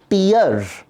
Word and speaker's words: tear: जब ये नाउन है तो इसका प्रोनाउंसिएशन है टीयर, TEAR, तो इसका प्रोनाउंसिएशन है टीयर, और इसका मीनिंग होता है आंसू।